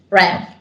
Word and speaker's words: RAMMP: Ramp, like ramping up.